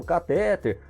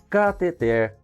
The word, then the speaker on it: cateter: E a palavra cateter é oxítona, tá? Muita gente pronuncia, aliás, quase 100% das pessoas pronunciam catéter, mas a palavra é cateter.